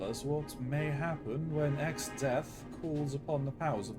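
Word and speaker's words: Exdeath: His name is Xdeath and he plays the role of chief antagonist in another ancient tale.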